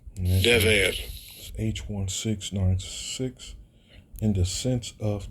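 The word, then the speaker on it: דֶּבֶר: Dever. Dever.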